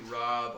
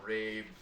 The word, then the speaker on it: rabe: broccoli rabe, R-A-B. Some people call it rabe. Some people call it rabe. I call it rob. Like Rob Lowe.